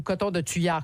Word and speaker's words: Coton de Tuléar: Alors, coton de Tuléar ou coton de Tuyard, comment tu le prononces? Coton de Tuléar, ou en anglais, cotton Tuléar.